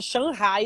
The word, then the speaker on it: Shanghai: Eu estou morando em Xangai. Na verdade, fala Shanghai, eu aprendi lá, né? Porque não pronuncia o G.